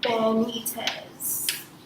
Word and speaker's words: Benitez: Don't forget to share, like, comment, and subscribe to my channel, which is, pronounced Benitez. Can you guys see it? Yeah, Benitez.